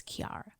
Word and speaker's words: Kiara: Her name is Kiara. Oh. Spelled the same, but it's Kiara.